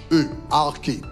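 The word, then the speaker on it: arkhē: Le mot utilisé pour principauté dans la Bible, c'est arché, A-R-K-H-E, arché, ok, en grec, A-R-K-H-E, ok, qui prononce arché.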